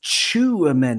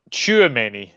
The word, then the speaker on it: Tchouaméni: It's Tchouaméni because he chews them up and spits them out. Oh, there we go. My pronunciation is not the best anyway. But no, Tchouaméni.